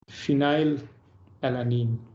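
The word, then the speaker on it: phenylalanine: why the name comes Phile alanine three letter what p e one letter what f because it pronounce with like f pronunciation F phonetics why it is not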